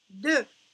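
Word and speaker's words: deux: 2. 2. Regardez ici. On voit le X, mais on l'entend même pas.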